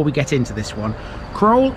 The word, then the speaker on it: Crowle: get into this one kroll is sometimes pronounced cruel likely a hangover from the time of the doomsday book where it's listed as such the doomsday book entry